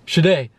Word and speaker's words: Sade: You could have just said, like, how exactly do you pronounce her? Yeah, and then every time she goes, yeah, Sade.